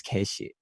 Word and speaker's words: Keshi: play and everything and her parents would call me which is my legal name but they would pronounce it as case she so I see it